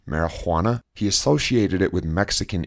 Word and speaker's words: marijuana: he started with marijuana which he spelled and pronounced with a hard h marijuana this probably seemed bizarre